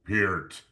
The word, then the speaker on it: Peart: Ladies and gentlemen from the Great White North, be sure to pronounce his name correctly. It's not like the old school shampoo. The greatest, the master, the doctor, the template. Ladies and gentlemen, Neil Peart.